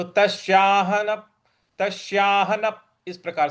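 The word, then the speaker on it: तस्याहं: अगला पद है तश्याहन तश्याहन देखिए त आधा स य पर आ की मात्रा और ह पर जो अनुस्वार है उसका उसके आगे न है तो उसका इसका उच्चारण भी न ही आएगा तो तस्याह तस्याहन इस प्रकार से बोलेंगे और तस्याहन और न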